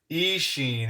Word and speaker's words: Eachine: run on the E Isen Isen is what I've been being told is the right way to say it I don't know um